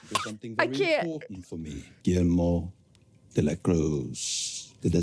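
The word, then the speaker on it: Guillermo de la Cruz: GMO deacros.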